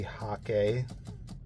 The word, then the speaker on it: hake: just say all right we all mispronounce the hate brush it's supposed to be hockey like sake but um it's kind